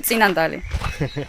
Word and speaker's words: Tsinandali: Because like in English I said, for example, Tsinandali, but in Georgian you say Tsinandali. And I still, even though I know how to say it correctly in Georgian, when I speak English, I try to pronounce the word in the way it's written in English and how the English speaker read the word.